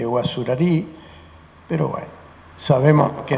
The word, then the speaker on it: Guazurarí: toca reflexionar sobre Andrés Guazurarí. El término se pronuncia de distintas maneras, parece que originalmente Guazurarí, pero bueno, sabemos a qué nos referimos.